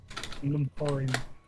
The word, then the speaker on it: Nemhain: Nemwan. It's Irish. I don't know how to pronounce it, to be honest. I'll figure out how to pronounce it real quick just to make sure. Pronunciation. Navon.